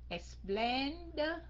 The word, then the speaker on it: explained: Có ED đây, mình phát âm thành chữ D phải không các anh chị? Tại sao? Tại sao phát âm thành chữ D? Explain. And chữ D mình nói nhỏ lại thôi, mình chỉ đánh cái hơi ra thôi.